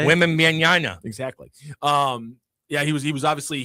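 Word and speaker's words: Wembanyama: Women mañana. Exactly. Yeah, he was obviously he's How do you say it? Wem Bam Yama.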